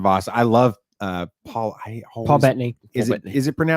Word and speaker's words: Bettany: Paul Bettany. Is Paul it Bettany. is it pronounced Bettany? I always want to Bettany. call it It's- Battani, and I know that's not right.